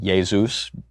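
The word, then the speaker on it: Iesus: Zeus and in Latin ya Zeus j esus the J is pronounced yeh and from that we get Jesus when we anglicize it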